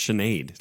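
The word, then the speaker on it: Sinéad: always forever no they don't even know it's pronounced Sinead like that's okay no Jake Joel's actually convinced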